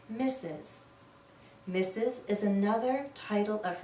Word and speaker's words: Mrs: the word mistress but we almost always read this as misses mrs is another title